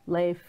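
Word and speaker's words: Leif: that le i FF so it looks like leaf if you look quickly yes lathe what kind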